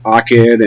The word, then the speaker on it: Achad: Some people pronounce it akid, and you can pronounce it however you want, which means one or unity.